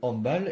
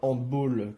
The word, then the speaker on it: handball: tient à la main la prononciation en français européen donc le handbal et non pas hand ball comme certains peuvent le penser est influencé par la